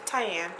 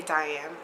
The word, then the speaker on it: Tyan: like Oh my name's tyan and they're like okay Diane no my name's tyan okay no or when I'm trying